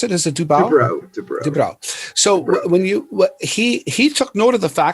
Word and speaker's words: DuBrow: So Kevin Dubrow, is that how you pronounce it? Is it Dubrow? Dubrow.